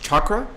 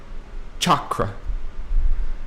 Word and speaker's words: chakra: chakra good question only one and actually it's pronounced chakra and that's okay because I when I first heard the word I thought it was chakra too but it's cha chakra and and another thing real quick I want